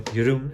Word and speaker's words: Jeroen: My name is Jerome, or Jeroen as it's pronounced in Dutch, but for you guys I put it in Jerome.